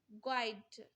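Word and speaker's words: guide: is silent in the word गाइड गाइड आप यू यहां पे साइलेंट हो जाएगा नेक्स्ट क्वेश्चन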